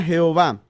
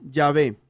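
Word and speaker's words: Yahvé: a las cuatro consonantes no era jehová sino llave los judíos en el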